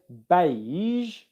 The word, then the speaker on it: beige: So right now, if you say the word beige and you feel like you can't make the sound at the end of a word, what I want you